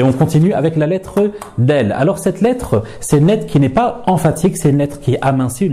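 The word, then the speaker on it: دال: Donc, il ne faudra pas la prononcer da, mais plutôt de.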